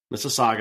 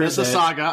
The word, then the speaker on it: Mississauga: Mississauga. Make sure. Mississauga.